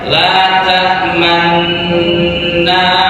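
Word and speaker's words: لا تأمنا: Tulisannya, tapi membacanya harus ada isyarat monyong bibir. Gimana itu? Di dalam Yusuf, surat Yusuf, membacanya la ta'manna ala Yusuf.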